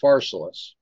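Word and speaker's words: Pharsalus: famous bottle of fars he calls it farela and we call it faralis ah okay okay so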